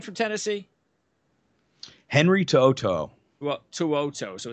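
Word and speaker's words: To'oto'o: Henry Tuoto. Well, Tuoto. So it's basically, okay, so it's Tuoto.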